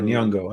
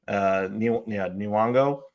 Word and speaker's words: Nyong'o: Who Nyong'o, I think is how you say Nyong'o. it. Okay, thank you. Nyong'o.